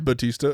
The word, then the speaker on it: Bautista: starring Eric Nam, Dave Bautista. Is that how you say it? I think so. Bautista. I didn't want you coming after me again. Yeah. What did you say last night? Bautista. Batista. Yeah, Batista.